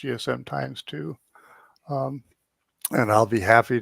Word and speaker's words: GSMx2: gchq um Message Board GSM X2 pronounced GSM times 2 um and I'll be